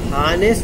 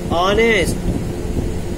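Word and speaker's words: honest: इसको हानेस्ट नहीं बोलेंगे, हा से उच्चारण नहीं हो रहा इसका। ऑनेस्ट, ऑनेस्ट, ऑनेस्ट, आ।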